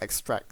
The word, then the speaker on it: extrac: Force extra SE uh apparently it's spelled is pronounced extract so whoops I've been pronouncing it wrong all